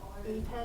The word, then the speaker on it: ipe: So the wood that they use is a type called Ipe, it's spelled IPE, and it's very, very durable, there's no maintenance.